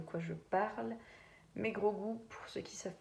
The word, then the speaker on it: Grogu: Et donc Grogu, donc ça se prononce avec un G-O-U à la fin, mais ça s'écrit donc G-R-O-G-U. Voilà, ça s'écrit Grogu, mais ça se prononce Grogu.